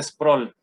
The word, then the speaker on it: Sproul: Tengo entendido que se pronuncia Sproul, como con una U muda.